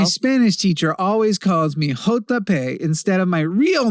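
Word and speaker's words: jota: In Spanish, J is pronounced "hota" or "hota" actually.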